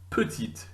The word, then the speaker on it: petite: So that last letter, the penultimate letter of that word, when there's an E on the end, is pronounced when there's an E on the end. If there's no E on the end, it's silent. So listening again, petit, masculine,